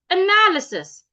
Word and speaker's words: analysis: So instead of saying analyze or analysis, the first letter a here doesn't sound a rather it's making the sure sound. So I should go analysis analysis not analysis analysis.